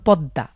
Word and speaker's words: পদ্মা: যেমন পদ্মা, পদ্মা একটি নদীর নাম, আমরা পদ্মা, দয়ের নিচে ম ফলা রয়েছে, কিন্তু আমরা দকে দুইবার উচ্চারণ করছি।